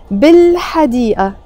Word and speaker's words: بالحديقة: And when I'm saying بالحديقة, I'm not pronouncing it B and then pausing إل and then حديقة. No, we use a liaison. We say بالحديقة, in the garden.